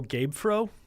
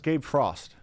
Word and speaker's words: Gabe Frost: I would go Gabe Fro. Yeah, it's Gabe Frost.